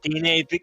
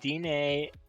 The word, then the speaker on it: Diné: We're supporting the Utah Diné, I'm sorry if I butchered it. Diné, oh my god. Listen, thank you. Okay, Diné, Bikéyah.